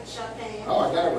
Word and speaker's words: Shaphan: And it came to pass in the 18th year of King Josiah that the king sent Shaphan. Right, Shaphan.